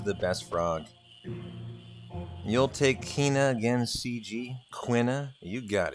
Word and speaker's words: Quina: I've always called him Kina, but I was really yesterday talking myself back into Quina. Quina, even. Like E-E, like Q-U-E-E-N-A, Quina. Although I always have to admit I pronounced it Kina.